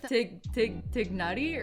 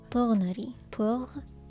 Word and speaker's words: Tighnari: Tighnari's name is one of the more difficult names to pronounce. In my personal opinion, I think it would be fine if it were to be pronounced as Tighnari instead of Tighnari. So that's a vowel difference.